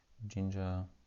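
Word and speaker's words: Jinja: is a templating engine spelled like ginger anything like that ginger python yeah ginger not with g but with d uh yeah ginger is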